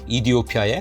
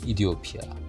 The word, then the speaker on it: 에티오피아: 사실 그들의 국명은 우리의 외국어 표기법에 따라 에디오피아라 하지만 현지 발음은 이티오피아에 가깝다고 합니다. 대사관에서도 그렇게 불러주길 바랍니다. 그래서 마지막으로 그들이 원하는 국명으로 불러보고 싶습니다. 감사합니다. 이티오피아 2010년 12월 중순 티니즈의